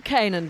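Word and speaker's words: Canaan: very distinctive Bulldog now the can dog the Kanan dog which is how we prefer to pronounce it the chowchow and the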